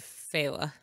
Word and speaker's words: Fela: seen uh jackass because we gotta talk about feyla or or fella i can't not read fella but every time i see it because of hella no because it's spelled kind of that way i see fila feyla that's the the audiobook said fella yeah who doesn't love